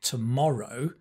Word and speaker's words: tomorrow: But when you have more than one syllable, like tomorrow, tomorrow, which one do you stress? Tomorrow. In that case, you stress the second one, right?